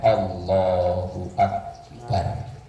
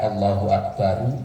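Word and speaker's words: الله أكبر: Wa sunnah, dan sunnah jazmu ra'ihi, menjazamkan huruf ra-nya atau membaca sukun huruf ra-nya, membacanya Allahu Akbar. Kalau dibaca Allahu Akbaru ya boleh, cuman sunnahnya dibaca jazam.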